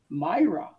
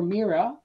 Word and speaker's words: Mira: be the star with almost a mirror name myra although if you favor the indian or spanish pronunciation it sounds more like mira but either way the latin meaning for mira which can be a